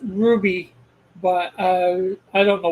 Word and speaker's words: RWBY: pronounce that with anyways there no real uh vowels in RWBY which is probably why they pronounce it Ruby because you is the closest vowel to w W can sort of